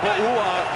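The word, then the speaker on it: Pouha: Wearing a tie and pronouncing Bouha in the same day. That's a little misleading because it starts with a P, but it more sounds like a B.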